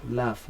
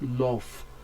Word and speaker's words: laugh: Then we also have the third, which is number C option, is laugh. And sound as well. We have the and sound, laugh, not love.